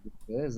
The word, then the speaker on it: Baise: Et Bez, hein, le prénom ne s'invente pas non plus, on le prononce Bez, hein, c'est bien de le dire aussi parce que certains se